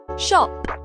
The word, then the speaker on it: shop: between o and a in British English words like Shar and L are pronounced with an open rounded Sound Shop lost excuse me Mrs